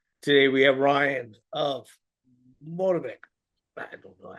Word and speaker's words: Motivik: It's pronounced Motivik. Motivik.